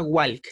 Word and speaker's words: walk: ing caminando caminar es W Wal no se pronuncia Walk eh No no se pronuncia Wal Wal más